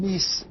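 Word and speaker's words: Caroline Myss: Now, Carolyn Meese, which is, I believe, the way she pronounces it, this is something that you're going to have to be wary of everything I say.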